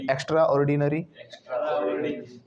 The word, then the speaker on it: extraordinary: के हिसाब से लिखेंगे तो हम लिखेंगे EXTROD, गैप देगा D, एक्स्ट्राऑर्ड, है ना, एक्स्ट्राऑर्ड, EXTROD लिख कर लिखेंगे हम, फिर NRY नरी, एक्स्ट्राऑर्डिनरी, इस तरीके से आपको बोलना है इसे, लेकिन स्पेलिंग वही है, EXTRAORDINARY, ऑर्डिनरी वाली, आपको बोलना एक्स्ट्राऑर्डिनरी।